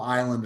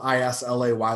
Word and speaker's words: Islay: from a very small island a very small region of scotland called uh the the isla it's spelled i-s-l-a-y looks like islay pronounced like isla uh in that area